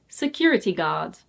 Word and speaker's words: security guard: And it's not security guard, it's security guard. Security guard.